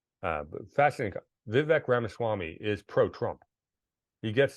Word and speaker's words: Vivek: it's vivec we got to be Sarah correctly vivec no he it should be Vic Vivek yeah that's how his first name is pronounced so we'll give him he made that